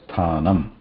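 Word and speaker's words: स्थानम्: nakara plus akara na, and at the end there is a makara, which technically cannot be pronounced by itself, but since we need to pronounce that word anyway, we pronounce it as sthanam.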